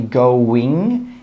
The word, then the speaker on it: going: And a lot of the time, native speakers don't say 'going, going' with that ING sound. They get rid of the G and they just say 'goin', goin'.'